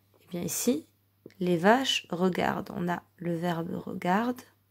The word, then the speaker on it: regardent: Les vaches regardent le train. Attention, on ne les prononce pas. On ne dit pas les vaches regardent le train. Surtout pas.